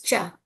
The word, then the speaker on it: ca: So here C A pronounces cha cha cha also Eva.